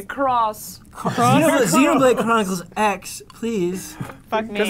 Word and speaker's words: Xenoblade Chronicles X: Xenoblade Chronicles 10. Whoa. 10. You mispronounced that. X. Xenoblade? Is that what We it is? say cross. Xenoblade Chronicles X, please.